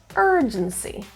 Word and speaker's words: urgency: The stress is in the first syllable, urgency.